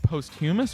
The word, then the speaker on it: posthumous: Is it pronounced posthumous or posthumous?